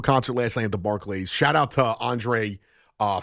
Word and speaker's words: Barclays: It's actually Barclays, not Barclays.